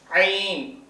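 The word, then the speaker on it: عين: தா இது வா அடுத்து ஐன் ஐன் அடித்தொண்டில இருந்து ஐன் இந்த கை எங்க அடி தொண்டைல வச்சா அந்த சவுண்ட் வந்துடும்.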